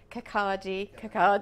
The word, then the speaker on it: Kirkcaldy: And then we moved to Falkirk and Kirkcaldy, I have to say it correctly.